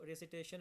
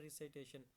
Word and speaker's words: recitation: हम उसको रेसिटेशन में बोलते हैं, RECITATION, रिसिटेशन भी बोलते हैं कई कई लोग, और रिसाइटेशन भी बोलते हैं, ठीक है। लेकिन मोस्टली इसका सही प्रोनाउंसिएशन होता है रिसाइटेशन।